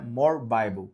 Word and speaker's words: more bibly: Você digita more bibly, mas a pronúncia é more bible, que significa mais bíblia.